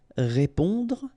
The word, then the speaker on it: répondre: Okay, don't insist on the final E. Répondre à.